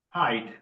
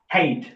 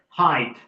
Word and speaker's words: height: Height. Yeah. Some people pronounce it hate. Not hate. Height.